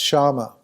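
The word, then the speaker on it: śama: Shama, S-A-M-A, pronounced Shama.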